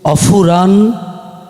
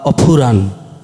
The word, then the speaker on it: অফুরান: অফুরান, এফ বলতে কিছু নাই বাংলায়, বাংলা শব্দ যে এফ, আমরা ফ প ফ, এমন পিএইচ, অফুরান, এটাই।